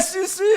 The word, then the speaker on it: Sussucre: It's Sussucre, like sugar, you know, in English. Say that again. Sussucre, like sugar in English.